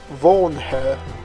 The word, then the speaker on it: Vornherr: look at how to create and how to pronounce house worn her got that right all begins with a good